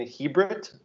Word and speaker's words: Chibrit: I'm your host, and today we're here with Ruxi and Valentin Chibrit. Am I pronouncing that right?